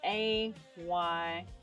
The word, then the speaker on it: Ayub: Is AYUB. That's how you say what we in Christianity used to say Job. This is the correct pronunciation, or the correct transliteration, rather.